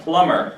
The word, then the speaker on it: plumber: B is silent. Like plumber. Plumber. Like when we say debt, we don't say debt, we say debt. Plumbing and plumber.